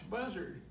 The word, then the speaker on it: Buzzard: And I said, "Well, it's buzzard. That's what it says.